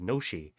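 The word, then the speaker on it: ノシ: Most people pronounce it as noshi after the reading of the Japanese letters used.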